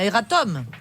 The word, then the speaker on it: erratum: Prononce bien, erratum. Oui. Erratum.